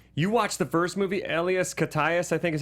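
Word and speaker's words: Elias Koteas: to this day you watch the first movie Ellas kayas I think is how you say his name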